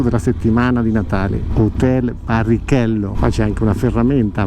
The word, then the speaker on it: Barrichello: Però ho scoperto qui in Brasile che in portoghese Barrichello non è barricello come in spagnolo, ma Barrichello come lo pronunciamo noi italiani.